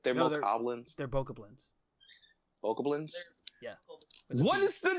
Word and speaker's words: Bokoblin: I gotta do no other dungeon, or fight Mochablins until my eyeballs bleed, and That then was where steal my their demo- like shit.